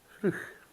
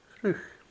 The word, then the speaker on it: Fraoch: And it's pronounced a bit differently. In Gaelic, or in Scotland, we would say Fraoch. That's what we would say, Fraoch. Whereas the Irish would say Fraoch. Fraoch.